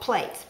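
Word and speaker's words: plait: strings of dough are called plates p l a i t all right plate and we're going to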